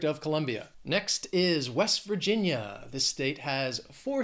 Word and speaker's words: Virginia: Vermont next is Virginia three syllables stress is on that second syllable Virginia Virginia and an expression with this